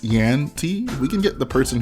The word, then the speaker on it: JanT: Well, anyways, this MOC was built by JanT, or I think someone corrected me and said it's actually pronounced YanT.